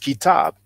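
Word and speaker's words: كتاب: he will know that the KTB is pronounced kitab.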